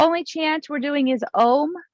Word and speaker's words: om: chance we're doing is ohm like om sometimes people say it like ah om like it sounds like a-u-m some people say amen